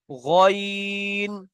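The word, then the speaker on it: غين: তো, পুর হরফ, মুখ গোল করে উচ্চারণ হবে। তো, জ, আইনটি পুর হরফ নয়, তাই কেমন উচ্চারণ হচ্ছে দেখেন, আইন। গইনটি পুর হরফ, কেমন উচ্চারণ হচ্ছে দেখেন, গয়িন, গয়িন।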